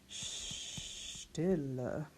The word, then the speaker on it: Stille: Now, S-T at the beginning of the word, that's one to notice. That's our esh sound. Stille. It's I because of the two L's, and then a schwa ending.